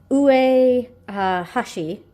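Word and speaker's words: 上橋: And this book is Shika no O, which is Deer King, and I wrote down the pronunciation of the author here because I knew this was Ue Hashi, because that's upper, or above, and bridge.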